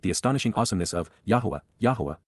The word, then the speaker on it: Yahowah: Respect and revere, appreciate the astonishing awesomeness of Yahuwah, Yahowah, the proper pronunciation of the name of Eloah, God as directed in